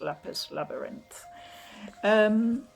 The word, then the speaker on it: Lapis x Labyrinth: did find out that the X in between it looks like it might be lapis times or lappers X labyrinth but apparently that's not pronounced it's just lapis labyrinth and on the back